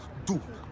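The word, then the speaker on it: дух: The final consonant in duh is an aspirated velar, similar to the English but pronounced further back in the mouth.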